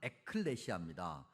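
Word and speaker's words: ἐκκλησία: 여러분들에게 수차례 설명드렸습니다 어 교회라는 단어를 굳이 헬라어로 발음을 해보면 에클레시아 에라는 단어와 그다음에 클레시아 즉 칼레라 그는 동사에서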